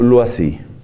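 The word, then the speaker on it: Loisy: Como eso es francés, entonces nos debemos pronunciarlo lo así. Se escribe L-O y latina S-Y, lo así.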